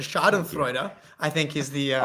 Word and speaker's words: schadenfreude: add the topic was and you did pretty good with the pronunciation but the shot of freuda I think is the